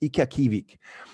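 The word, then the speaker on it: ikiaqqivik: and how to pronounce it is called it's pronounced ikakivik and nikev ki week is the word for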